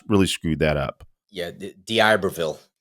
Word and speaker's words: D'Iberville: 24th through 26th, now I always screw up pronouncing this D'Iberville, Mississippi. Boy, I really screwed that up. Yeah, D'Iberville. D'Iberville.